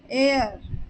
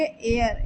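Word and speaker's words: heir: वाला हकर हकर वारिस एयर यहां पर भी ए साइलेंट होगा और ई आई आर का प्रोनंसिएशन करेंगे तो इसे हम पढ़ेंगे एयर एर यानी होता है वारिस कृपा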